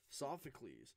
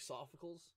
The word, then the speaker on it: Sophocles: hyper rare I would notice a dark so sophocles so for the last time I didn't know how to say his name I was I was like I always thought was like Safa khals but then I watched the anime on Netflix